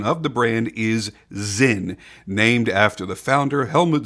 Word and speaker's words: Sinn: And for those curious, yes, the proper pronunciation of the brand is Sinn, named after the founder, Helmut Sinn, a pilot and flight instructor who wanted to make a flawless, reliable pilot watch.